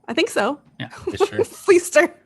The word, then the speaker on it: Fleischer: How do you pronounce his last name? I think so. Yeah. Fleester. Fleester.